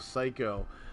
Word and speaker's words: Seico: But yeah, also intro and outro music by Psycho, and the name of the song is World of Mine, and that is spelled SEICO, Psycho.